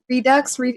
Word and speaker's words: Redux: Team has rebuilt its award-winning cyberpunk thriller Observer with augmented visuals, gameplay, and story as Observer system redo for the Redux.